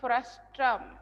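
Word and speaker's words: frustum: right circular cone frustrum frustrum frustrum R is silent frustrum of a right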